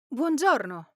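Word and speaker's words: buongiorno: In English, we'd be tempted to say bon, but in Italian, the u and o are pronounced, creating a blended one sound, like you're starting with bu and quickly moving on to on.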